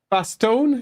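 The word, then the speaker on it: Bastonne: So you're saying maybe toone like like coron bastone. Is that that how you're saying? I'm cool with that if it is. But um as we say against war pronounce it baston because they're not um French.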